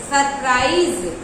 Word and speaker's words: surprise: बहुत से विद्यार्थी करेक्ट भी करेंगे क्योंकि उनके दिमाग में प्राइज चलेगा, PRIZE सरप्राइज। तो आजकल सरप्राइज ना कहके सरप्राइज कहा जाता है, SE का उच्चारण Z से कर लिया जाता है, I was surprised।